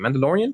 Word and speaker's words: Mandalorian: He didn't The Mandalorian as well. Yeah. For all those Star Wars fans out there, he did The Mandalorian. I don't know if I'm saying it correctly. Mandalorian.